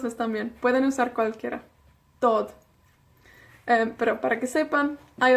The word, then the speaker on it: dod: Hay dos versiones de dod. Hay dúad y dod. Dúad se usa más en el norte, pero yo, no sé por qué, pero yo digo dod.